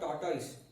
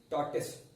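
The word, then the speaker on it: tortoise: अब देखो ये जो है that is नॉट टॉर्टोइस, that is टॉर्टिस। यहाँ पे दिस ओ इज साइलेंट।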